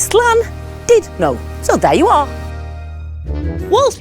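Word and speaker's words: Llandudno: and Judy so remember it's not dud it's slan did no so there you are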